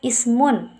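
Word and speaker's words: اسم: Nah, di sini alif di sini adalah alif wasol yang dibaca karena alif itu berada di awal kalimat dan tidak diucapkan ketika didahului oleh kata lain. Contohnya seperti masmun hadza rajul. Alif di situ di kata ismun itu tidak dibaca karena didahului oleh huruf ma.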